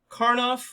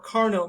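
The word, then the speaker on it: Karnaugh: six in the ltn-132 uh karnoff or carno maps depending on how you pronounce it often it's just abbreviated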